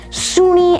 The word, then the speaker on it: SUNY: public university systems like suny and cuny yeah that's actually how you pronounce them are very prominent and